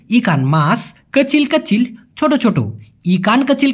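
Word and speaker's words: kecil: তার বিপরীত ছোট ছোটকে মালয়েশিয়ান ভাষায় বলা হয় কচিল কি বলা হয় অনেকে বলে কিলা কিি কিি না সঠিক উচ্চারণ হবে আমি ছোট ছোট মাছ খেতে পছন্দ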